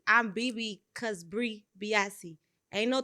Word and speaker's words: Biase: always, they want to add that extra B. They be like, Bri Biase. I'm BB because Bri Biase.